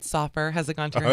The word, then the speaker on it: Soffer: I'll say it right. Soffer.